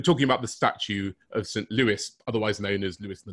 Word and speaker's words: St. Louis: home city of, and I have to be very careful here, British people always pronounce it wrong, St. Louis.